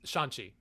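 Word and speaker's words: Shang-Chi: whatever his name is how do you say it it's shanxi shanxi he's marvel this is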